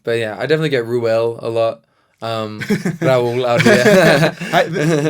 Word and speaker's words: Ruel: But yeah, no, it's just RUEL. Yeah, it's RUEL, right? Yeah, it's as it's spelt.